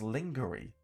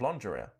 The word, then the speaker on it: lingerie: It says at 1 minute 35 pronounces a very common English word, lingerie. Lingerie. Completely wrong, and phonetically as lingerie instead of lingerie.